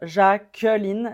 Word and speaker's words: Jacqueline: certaines personnes vont dire Jacqueline Jacquel mais ça dépend de l'accent avec mon accent ça serait Jacqueline jacqu l et je m'arrête au N Jacqueline ce prénom était